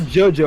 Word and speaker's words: JoJo: giorno jonah jordan giovanna jojo out of that yes you can it's geogeo but it's technically jojo if you pronounce it correctly but after part three